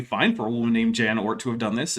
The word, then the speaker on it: Jan Oort: Blocka Delator says, you pronounce Jan Oort correctly. Well, that's because I know what to do with a J when it's coming from most Germanic-speaking countries, other than, like the English-speaking ones.